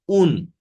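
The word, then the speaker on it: آن: Farsçada A sesleri telaffuz edilirken U şeklinde telaffuz edilebiliyor. Bakın A sesi burada buraya U şeklinde gelmiş. Un. An oldu size un.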